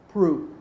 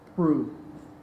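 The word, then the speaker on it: Proulx: Prue, spelled P-R-O-U-L-X, but pronounced Prue.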